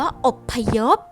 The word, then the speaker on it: อพยพ: เป็น ตัว สะกด ค่ะ คำ ว่า อพยพ พอ พาล เป็น ตัว สะกด แต่ ออก เสียง เป็น บอ ไบ ไม้ ค่ะ คำ ว่า ลาบ